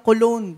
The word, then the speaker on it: cologne: Bakit yung word na cologne? Bakit silent G yun?